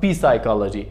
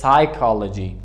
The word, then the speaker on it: psychology: It is not P psychology, it is psychology.